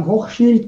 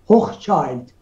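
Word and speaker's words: Hochschild: و همچنین شخصیت‌های دیگری مانند آقای آدم رخ هوخشیلد آدم هوخشیلد که آمریکایی‌ها بهش میگن هوخچایلد. واقعیت اینه که این آلمانی الاصله و تلفظ اسم اون به نام هوخشیلده، ولی این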